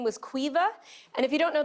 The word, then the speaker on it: Caoimhe: Her name was Caoimhe. And if you don't know the name Caoimhe, that's spelled C-A-O-I-M-H-E.